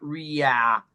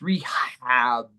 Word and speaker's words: rehab: So it's not yeah, it's not ria, it's rehab, rehabilitation.